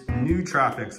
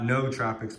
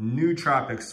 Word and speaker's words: nootropics: And the way that you actually pronounce it is nootropics. I just looked it up. N-O-O, like ooh, with the two O's being ooh. So not nootropics, but nootropics. Welcome, guys.